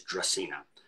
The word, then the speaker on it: Dracaena: things around and um the genus name or the Latin name of a draco tree is dracina um so it's phonetically phonetically pronounced on the back of the label um to help people